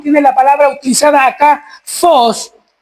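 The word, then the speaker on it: φῶς: Y la palabra luz que aparece en nuestro pasaje proviene del original fos que se escribe ph o s.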